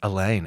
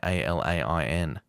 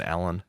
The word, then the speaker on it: Alain: Anyway, I think it's Alain, Alain. Is it? So it's not even Alan.